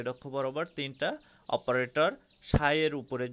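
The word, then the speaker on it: psi: সাই, এই দেখো ত্রিশূল আকারের একটা প্রতীক, এটাকে সাই বলা হয় কিন্তু বানানটা পিএসআই, সাই উচ্চারণ হবে সাই।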